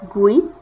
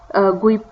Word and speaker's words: GUI: most of the modern programs they use gui pronounced as gui gui this is pronounced as like this so g